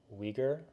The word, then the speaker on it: Uyghur: It's spelled Uyghar. Okay. Yeah, but it's pronounced Uyghur or something like that.